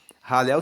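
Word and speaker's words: Hallel: formam os salmos que se chamam ralel egípcio ralel se escreve h a l l e l e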